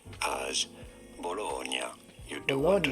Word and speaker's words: Bologna: name of this city is normally said as bologna you don't want to stress on the middle syllable syllable once you know okay okay